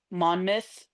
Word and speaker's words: Monmouth: And then there's just a couple of other ones that are or Monmouth. Every single thing that is a mouth spelling is pronounced myth.